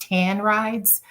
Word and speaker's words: TAN Rides: We're pronounced TAN Rides.